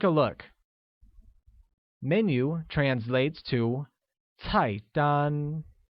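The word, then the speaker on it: 菜单: look menu translates to type done which is pronounced with a falling tone on the first a and a high level tone on the second can you say that once again its height done very good similarly order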